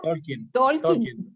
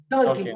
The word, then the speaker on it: Tolkien: era ellos, tanto Tolkien, no sé cómo se pronuncia, Santiago, usted que, ¿cómo? Tolkien. Tolkien, ok.